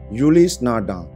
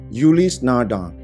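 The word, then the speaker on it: Ulysse Nardin: Beberapa orang Indonesia bacanya adalah Ulis Nardin. Kelihatannya sih benar karena memang tulisannya seperti itu. Ternyata yang benar adalah Ulis Nardin. Gua ulang, Ulis Nardin.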